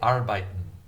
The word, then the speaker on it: arbeiten: I learned how to say arbeiten through learning Japanese. Arbeiten is the German word meaning work. In Japanese, it's pronounced arubaito, arubaito, arubaito.